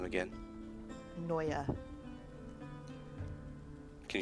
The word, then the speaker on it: Noya: just to scare them say that name again noya can you spell that name maddie n-o-y-a there you go oh